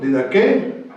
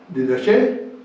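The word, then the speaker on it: διδαχή: Esto es, enseñando, en el griego, didaqué, didaché o didajé. Es la misma raíz, varía la pronunciación.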